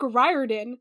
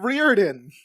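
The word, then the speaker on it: Riordan: he was like Rick Ryan it's sort of rhymes with fireman sort of but there is also a clip of him saying rear in I I've never seen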